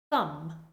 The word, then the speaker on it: thumb: Another similar word, thumb, thumb. Debt, debt. Doubt, doubt. In these words, you should just imagine that the B is not there at all, and that will help you to say the word more correctly.